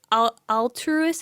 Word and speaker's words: alterous: Alter, like to change something.